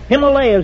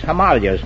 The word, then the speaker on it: Himalayas: rhymes with jelly ow himalayas has gone out of style too it's himalayas now yes and you don't